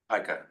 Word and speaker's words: pika: Pika.